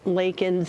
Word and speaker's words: Laken: And then, like you said, he mispronounced it, saying Lincoln instead.